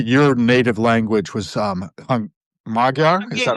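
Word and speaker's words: Magyar: I think your native language was um Magar. Is that right? Yeah. Majar.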